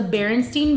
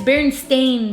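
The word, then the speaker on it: Berenstain: of things ourselves right so if something is pronounced The Berenstein Bears our minds are immediately going to associate that within but it's bearing stain Bears right like the whole thing is that it's an A so then Skechers in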